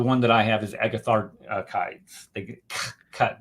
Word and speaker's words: Agatharchides: that I have is agathar kites they get cut the CH is a k sound CH is the case